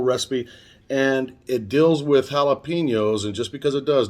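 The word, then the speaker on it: jalapeño: And if you want to pronounce it properly, it's jalapeno.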